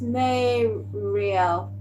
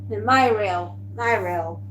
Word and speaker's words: Myriel: Pronounce it. It's Myriel. Myriel.